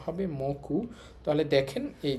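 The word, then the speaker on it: もく: আর এই কাঞ্জিটর উচ্চারণ হবে মে এবং উচ্চারণ হবে মকু। দুইটাই হতে পারে।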